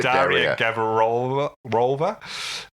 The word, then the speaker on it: Daria Gavrilova: Do you think everyone says Dasher because they can't pronounce her name? Yeah, Daria. Is it Daria? Daria Gavrilova.